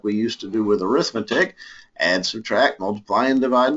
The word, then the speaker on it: arithmetic: You do not get graded on your pronunciation in this class, but that word that looks like arithmetic is actually an adjective, pronounced arithmetic combinations of functions, as opposed